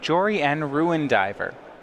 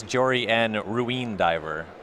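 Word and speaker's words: Jori En, Ruin Diver: one of copy of Jory and ruin diver I don't know if you're pronouncing that correctly I believe it's Jory and ruine diver oh okay it's I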